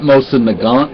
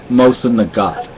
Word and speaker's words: Mosin Nagant: From my understanding, you do not pronounce the N in Nagant. It's not Mosin Nagant, it's Mosin Nagant. Now, I could be wrong, but that's what I've heard.